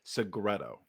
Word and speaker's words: Segreto: so stoked to have Melissa segreto did I pronounce that right you sure did I've been saying I've